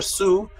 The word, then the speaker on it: Shu: it is Shu or Sue which is light or daylight all right the word in metet for daylight was son was Shu pronounced Su now remember the word